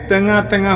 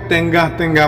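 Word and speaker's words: tengah-tengah: ওকে, তেঙা তেঙা হচ্ছে মাঝখানে। এখানে উচ্চারণটা অনেকে তেঙ্গা তেঙ্গা বলে, তেঙ্গা তেঙ্গা হবে না। শুদ্ধ করে বলতে হলে আপনি বলতে হবে তেঙা তেঙা।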